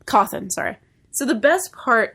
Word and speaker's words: Cawthon: I keep wanting to say Cawthorn, which is like reverse Rhode Island way of pronouncing his name. It's Cawthon. Cawthon, sorry.